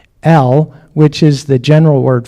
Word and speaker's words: El: They actually put a W in the pronunciation piece on this one. So it's not L, it's El, which is the general word for God, which is even before.